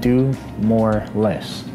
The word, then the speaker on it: DUMOARLES: You can find me on Instagram at DUMOARLES, and it's pronounced do more less.